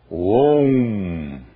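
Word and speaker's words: ओम्: pronunciar o sânscrito corretamente aqui há uma fusão não se pronunciam estas letras separadamente pronuncia-se om e a questão do M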